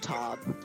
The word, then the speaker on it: Tove: Only a little bit, and it's pronounced Tob. Wait, didn't I said Tove, right? Tob. Yeah, Tove.